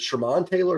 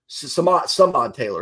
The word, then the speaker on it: Samad Taylor: Who's it? Sherman Taylor? Is that how you say it? Samad Taylor, excuse me.